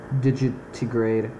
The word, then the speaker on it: digitigrade: a reference for digitigrade did you to grade is how you say it there it is found